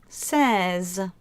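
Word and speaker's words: seize: cattles and 15 is cows and 16 is says but to put them together and maybe it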